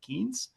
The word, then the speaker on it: Keynes: So his last name is the same as Lord Keynes, the creator of macroeconomics, but he pronounces it Keynes.